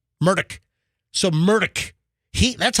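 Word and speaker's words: Murdaugh: And then he said it's Murdoch. Mdock. So Murdock. He that's how he pronounced it. But it looks like a murder dog the way it's spelled and the way guess what?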